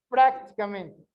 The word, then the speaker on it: prácticamente: Onde tem o som mais forte? Prácticamente. Seria no A.